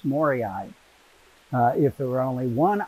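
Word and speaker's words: moorii: pronounced uh long e and the last one's pronounced long eyes so it's more eye if there were only one i it would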